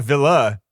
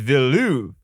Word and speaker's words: Villeneuve: to say his name it's not villa it's velou it's like you're trying to say denis villeneuve but saying it really fast okay yeah sound like